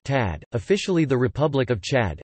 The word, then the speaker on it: Tchad: Chad, listen, Arabic, Shad to Shad, French, Chad pronounced Tad, officially the Republic of Chad, Arabic, Jamrit Shad Jumhuriyat Shad, French, République du Chad lit.